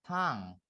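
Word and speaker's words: tongue: Ini bacanya tong. Tong gitu ya.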